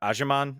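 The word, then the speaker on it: Agyemang: First half, I thought he really kept Patrick Agerman. I think I should know that name. I'm just making sure I pronounce it correctly. You got it right.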